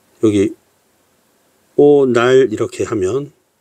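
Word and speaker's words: 오ᄂᆞᆯ: 어, 여러분 아라고 발음하면 좀 쉽습니다. 그러니까 얘는 오날도 마암 이렇게 발음하면 되고요. 또 이런 경우 있잖아요. 그러니까 어 여기 오날 이렇게 하면 날 이렇게 발음하면 되잖아요.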